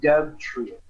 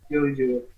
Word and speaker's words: Dodrio: And then Nidoking and Dub Trio. Not Dub Trio. Dodrio.